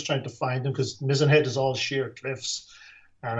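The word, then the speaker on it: Mizen Head: do you pronounce it mizzenhead yes mizenhead just like the mast on the ship okay i understand there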